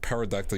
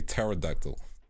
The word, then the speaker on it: pterodactyl: Like, you don't pronounce it pterodactyl, you have to say pterodactyl. So it should have a T, you know?